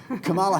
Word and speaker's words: Kamala: It's Kamala. So if you think of Kamala. the punctuation mark, comma, Okay. You put and then you just add a la to the end, Kamala.